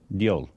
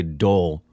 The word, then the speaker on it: Deol: Deol. That's what she said, right? I don't remember. I just remember we say Dole. I don't remember her proper pronunciation. I think it was Deol.